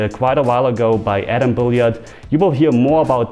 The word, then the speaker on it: Atom-Billard: As mentioned, today's bonus clip isn't about Instagram but about Atom-Billard, or how you would pronounce it as a German, Atom-Billard, and they changed my felt on the table on my rails quite a while ago.